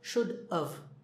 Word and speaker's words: should've: these should've could've would've when we speak we don't say have okay we say and when we say it it sounds like sounds like we're say should've this is sure so should of should've or coulda woulda